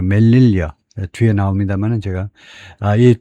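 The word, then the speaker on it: Melilla: 마이그루션의 세우타 세우타에서의이 이주 세우타에서의 이주 and메라 아 이게 발음은 이제 보니까 멜릴라가 아니고 멜릴리어 뒤에 나옵니다만은 제가 아이 두 군데에 멀릴리아는 우선 대충 여기서 보면요 여기도 모로코에 있는 여기도 마찬가지로 스페인형입니다.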